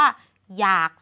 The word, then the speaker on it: อยาก: นำ และ สุด ท้าย อยาก เขียน อ นำ ย ก็ จริง แต่ เรา อ่าน ออก เสียง ว่า อยาก ซึ่ง มัน จะ เป็น การ อ่าน เหมือน หอ นำ ทั้ง 4 คำ เลย